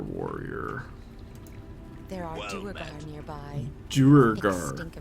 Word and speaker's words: Duergar: Duergar. Duergar.